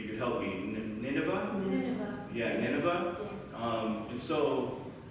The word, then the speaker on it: Nineveh: I've never pronounced or heard anybody pronounce. So maybe you could help me. Nineveh? Nineveh.